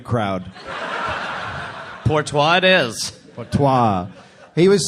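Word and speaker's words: Porteous: Portois it is.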